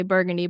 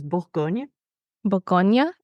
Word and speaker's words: Bourgogne: in English we say burgundy but in French it's like Boron or something like that yes so the correct way to say it in French is Bon Bonia okay and the reason